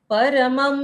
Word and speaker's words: परम: परम परम परम परम यहां पर देखो देखो प और र का उच्चारण पूर्ण करना है और म के ऊपर जो अनुस्वार है उसका उच्चारण आधा म तो परम ऐसे हो जाता है।